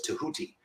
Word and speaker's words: Tahuti: His name is I prefer to pronounce it as Tahuti, but some people pronounce it as Didgehuti, with a DJ rather than just TEH, Huti, UTI.